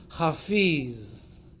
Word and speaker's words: hafiz: helpful which is that the divine name is hafiz the name of the persian poet is hafez okay so they're very closely related the meanings are the same but the pronunciations are different and the sound code